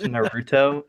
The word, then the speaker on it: Naruto: It's pronounced Naruto. Naruto, yes.